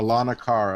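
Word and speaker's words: Aulonocara: How do you pronounce that name, Ron? Alanakara? I can't. Alanakara.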